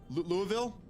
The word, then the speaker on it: Louisville: Louisville?